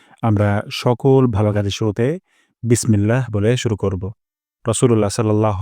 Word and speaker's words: বিসমিল্লাহ: প্রথম শব্দটি হলো বিসমিল্লাহ এখানে বিস সিন থেকে আমরা বাতাস বের করব বিস তারপর মিল্লা ইলাতে আল্লাহ শব্দ এখানে আমরা এক আলিফ তান দিব এক আলিফ তান লম্বা করে দিব বিসমিল্লাহ তারপর হিয়ার মে এখানে